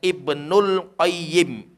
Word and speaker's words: Ibnul Qayyim: Tapi kalau kita pengen menyebutkan dua saja, Ibnu dan Qayyim, maka bacanya Ibnul Qayyim.